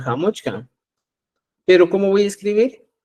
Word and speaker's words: Hamuchkan: O sea, usted puede hablar, decir Hamushan, pero también puedo hablar Hamuchkan.